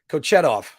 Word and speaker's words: Kochetov: Oh, because I wanted to make sure I pronounce it right. Kochetov.